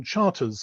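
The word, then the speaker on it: Charteris: On the left there, Brigadier General John Charters, he pronounced it, Douglas Haig's Chief of Intelligence from 1915 to his removal from intelligence in spring 1918.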